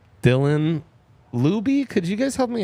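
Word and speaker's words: Laube: Dylan Luby. Could you guys help me out with that pronunciation? I thought it was Lob. But I There could you be go. wrong. Lob.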